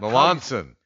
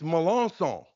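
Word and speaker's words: Melancon: Okay, that's not Melanson. It's Melanson.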